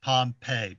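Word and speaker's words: Pompez: made Alex Pompeii I'm told his name is pronounced Pompeii p-o-m-p-e-z Harlem numbers King who is Scared Straight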